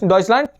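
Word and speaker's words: Deutschland: डसलंट। क्या बन गया? डसलांट। ये मेन इंपॉर्टेंट वर्ड है। ये ये और ये ठीक है? ये डॉइस जर्मन को बोलते हैं। डॉइसलांट जर्मनी को बोलते हैं।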